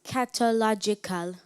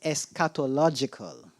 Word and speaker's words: eschatological: repeat the word eschatological am I pronouncing the word correctly as catological yes can you read the meaning of eschatological well you're not pronouncing it properly now is eschatological say it eschatological right it means concerning